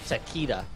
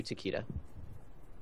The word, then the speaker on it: Takeda: I feel like Sanix should go back to Takeda, according to V-Man. That's how you say his name is. Takeda, not Takeda. But I always called it Takeda. I'm pretty sure it works either way.